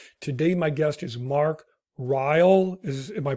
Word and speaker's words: Ryall: of the podcast today my guest is Mark rile is am I pronouncing that correctly yes that's right David okay